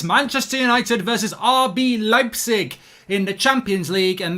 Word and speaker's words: Leipzig: you know that actually even though it looks like it is leapsig it is pronounced leipzig so there's a little bit of german uh town pronunciation lesson for you there it actually is leipzig it's official and there